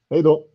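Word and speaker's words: hej då: Hey do. Hey do.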